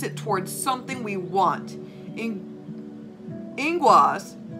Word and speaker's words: Ingwaz: Ingwaz, okay, that's what it's pronounced.